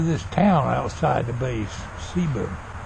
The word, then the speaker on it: Ceiba: It's pronounced Ceiba, spelled with a C.